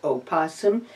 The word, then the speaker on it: opossum: play name that possum technically it is Oh possum but I got so much grief over that extra syllable death I just dropped